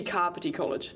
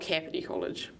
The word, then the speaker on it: Kāpiti: Let's be Kāpiti College, not Kāpiti College.